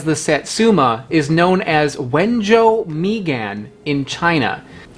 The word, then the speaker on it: Wenzhou: Wenzhou Migan.